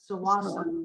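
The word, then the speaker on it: Tsawwassen: Yeah, many people pronounce it with the T, but Yeah. it's Sawassan is the Mhm.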